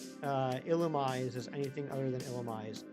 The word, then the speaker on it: Illumise: I just always pronounced it, you know, illumise, like illuminate. And here's the other thing. If it's supposed to be pronounced the other way, there should be an accent on the E.